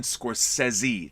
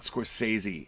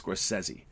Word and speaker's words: Scorsese: It's Martin Scorsese. That's how you pronounce his name. Martin Scorsese. Not Scorsese, it's Scorsese.